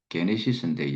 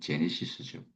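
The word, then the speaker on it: Γένεσις: 그 in the beginning 태초 시작 여기서 히브리 제목을 따면은 베레시트라는 히브리 제목이고 헬라어로는 게네시스인데 영어 발음으로는 제네시스죠.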